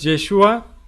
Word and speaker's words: Yeshua: Recordemos que en hebreo es Yeshua y en arameo era Yeshu, porque no pronunciaban la A, entonces queda Jesús.